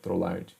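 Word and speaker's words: Trolard: Tá feia a minha letra aqui, está escrito Trollar. Então a gente escreve T-R-O-L-A-R-D. Escreve Trollard, né? Trollard. Mas o que eu costumo ver o pessoal pronunciando é Trollar.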